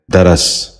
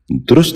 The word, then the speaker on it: درس: یہ غلط تلفظ ہے، درست تلفظ ہے دخول۔ دوبارہ سنیے، دخول۔ بچوں آپ بھی غور سے سنیے، دخول۔ چوتھا لفظ ہے درس۔ یہ غلط تلفظ ہے، درست تلفظ ہے درس۔ دوبارہ سنیے، درس۔ بچوں آپ بھی غور